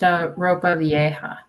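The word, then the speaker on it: ropa vieja: Oh, it's pronounced ropa viea.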